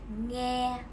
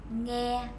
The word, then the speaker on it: nghe: Ngờ, e, nghe. Ngờ, e, nghe. Actually, the previous 2 consonant clusters that you just learned has the exact same pronunciation of ng.